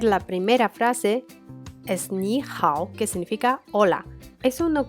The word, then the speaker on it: 好: Hao, he, ao, con tercer tono. No olvides, la H se pronuncia como J en español.